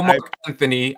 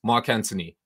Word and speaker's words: Anthony: And in London, we pronounce the H. We don't pronounce the H. Okay. It's Mark Anthony. Okay. Hey, man. No, Mark Anthony. I had to correct all the Americans when I lived over there. No, it's Mark Anthony. The H is silent.